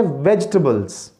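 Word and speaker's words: vegetables: तो व्यूवर्स, इसका सही तलफ़ुज़ है वेजिटेबल्स। वेज के बाद आपने रुकना है, वेजी नहीं बोलना, इसे कहते हैं वेजिटेबल्स,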